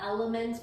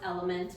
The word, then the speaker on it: LMNT: It's called Element, but it's Say based, Element. I know you don't, no, I did the same thing, because LMNT is what the Yeah. company is called, but it's pronounced Element, but it's LM.